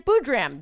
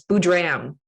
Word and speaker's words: Boodram: It's an am rather than an but it's very close. Boodram. Boodram. I just put the emphasis on the wrong syllable.